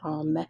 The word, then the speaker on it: homme: So the H is silent for homme. So vieille femme, vieil homme means old woman and an old man.